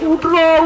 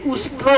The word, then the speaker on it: उष्ट्र: ने शब्द किया, बोला उठ रो उठ रो, संस्कृत में उठ को बोलते उष्ट्र, ये उष्ट्र उच्चारण नहीं कर सका, बता उठ रो, बोला पुलिस द ग्रेट